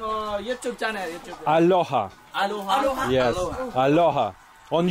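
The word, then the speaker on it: Alyoha: Aloha. Aloha. Yeah. But you pronounce it Aloha.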